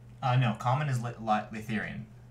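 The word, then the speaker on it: Laytherian: is sound mithian right uh no common is litheran how do you spell that it's in the Google Doc but it's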